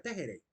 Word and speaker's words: texere: la lengua latina es texerey que se pronuncia tejeré el tgr es la